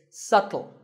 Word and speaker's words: subtle: you say it it's subtle the B is silent subtle means something that